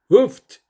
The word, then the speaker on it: Hooft: We call it, the pronunciation is actually Hooft, according to the Dutch people.